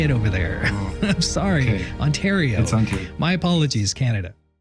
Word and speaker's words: Ontario: I always mispronounce Ontario. Ontario. Ontario. I keep saying Ontario because in California we have an Ontario and that's how they say it over there. I'm sorry. Ontario.